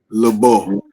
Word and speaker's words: LeBeau: with that being said, my number two hero of all time, his name is Remy, and you pronounce it LeBeau.